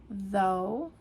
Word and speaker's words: though: GH. This throws off a lot of new English language learners because it's not pronounced. Okay, so examples of this would be though.